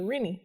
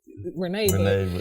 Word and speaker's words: Rene: my middle name wrong they say it renny okay because it's spelled r-e-n-e i don't know how to you renee yeah they say reading